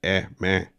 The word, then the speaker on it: Eme: Mafia, known as La Eme, a regular modern-day Murder Incorporated. And he was proud of it. Eme, pronounced "eh meh", is the Spanish phonetic pronunciation of the letter M for Mafia.